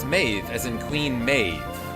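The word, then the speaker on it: Medb: Or maybe it's Maeve, as in Queen Maeve, which has a B that's pronounced as a V.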